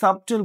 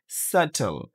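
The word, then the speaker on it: subtle: দেখেন এখানে সাবটেল বলতে পারে অনেকে। কিন্তু এটা আসলে বহুল উচ্চারণ। সঠিকটা হবে সাটল সাটল সাটল এখানে বিটা উচ্চারিত হচ্ছে না এরপরে দেখুন সি কে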